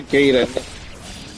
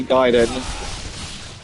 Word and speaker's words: Gaiden: And we called it Ninja Gayen cuz we didn't know how to say Giden.